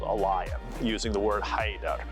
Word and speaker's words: Ḥaidar: So, let's start with the Arabic and then we'll move over to the English. In Arabic, Haydar ala. So we'll start with Haydar.